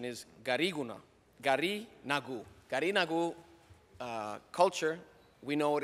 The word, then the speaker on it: Garinagu: I want to thank Senator Stewart Cousins for allowing us to present a resolution that honors the real pronunciation is Gariguna, Garinagu.